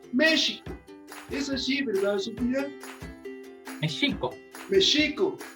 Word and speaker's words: México: al español, y entonces las entonaciones o las palabras cambian, como México, que se dice México.